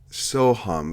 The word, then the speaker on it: Soham: are talking about the sohom murders soham that's with a long a yeah at 11 45